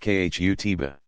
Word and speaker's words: khutbah: An address called the khutbah, pronounced khutbah, is a standard feature of every Friday congregational prayer service.